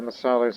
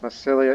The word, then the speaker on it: Massalia: And yes, viewers, I noticed it's spelled Massilia, but Massilia is a Latin name. I call it Massalia because that's the proper Greek name of the area.